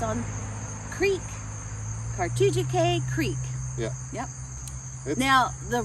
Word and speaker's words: Cartoogechaye: the name of our campground it's on creek cartogia k creek yeah yep now the road that the